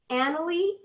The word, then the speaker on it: Annalie: Annalie, I think I said it right.